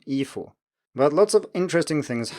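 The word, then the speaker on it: 衣服: A similar example is ifu, so it's first tone neutral tone, ifu.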